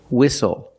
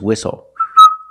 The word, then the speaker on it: whistle: We also see the silent T when you have the spelling pattern S-T-L-E. Like these words, whistle, castle, and hustle.